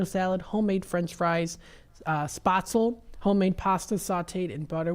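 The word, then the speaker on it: Spätzle: first tried it for the longest time it pronounced it spatel but I pronounce it spatel now uh because I guess that's the correct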